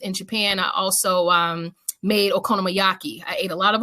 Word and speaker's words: Okonomiyaki: While I lived in Japan, I also made okonomiyaki.